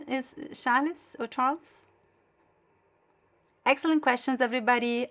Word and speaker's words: Charles: Charalis. In Portuguese, you say in Brazil, we say Charalis for the ch. You're telling me that your name is Charalis or Charles?